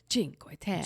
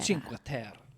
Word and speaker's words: Cinque Terre: Cinque Terre. Cinque Terre.